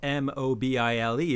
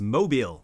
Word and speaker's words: Mobile: But the town in Alabama that's spelled Mobile is pronounced Mobile.